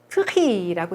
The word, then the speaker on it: prix: 프리라고 있고요. 요거 발음하지 않아요. 끝에라서 또.